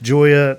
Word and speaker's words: Gioia: I'm here today with Joya Nicely. Uh looking forward to our conversation together. Joya, not spelled with a J.